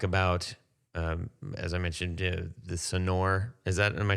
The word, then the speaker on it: Sonore: we're gonna talk about as i mentioned the sonore is that am i saying it right uh